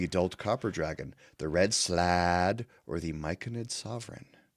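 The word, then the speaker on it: slaad: I'm going to pronounce it like there's an apostrophe in there. Like it's a Hawaiian word. It's slad.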